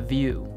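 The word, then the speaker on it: Vue: app itself, and the View. Get it? Because View rhymes with blue, as in they really blew it naming their company a pun.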